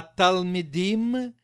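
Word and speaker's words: תלמידים: 1 и 2 им ударение на им на второе и в окончании им мы 1 и 2 им а talmidim мы махины эта h и r & b р.ф.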